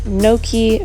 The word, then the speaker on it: gnocchi: your fridge so i'm using gnocchi that's how you say it and then i'm doing